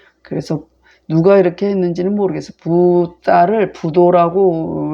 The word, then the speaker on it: 붓다: 네, 그러면 해석해 보면 세속이 부도에 속이고 꾀임을 믿어서, 그래서 부도는 붓다를 말해요. 그 부처님을 인도식 발음은 붓다라고 하죠.